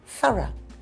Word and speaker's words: thorough: You say O, like in the word row, and I say just a little schwa sound. Thorough.